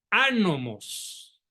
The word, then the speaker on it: anomos: ese nombre por favor anomos con acento en la A anomos qué significa el